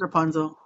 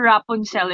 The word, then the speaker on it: Rapunzel: Rapunzel, yes, it's Rapunzel. Okay, my pronunciation is wrong. Here in the Philippines, we call her Rapunzel.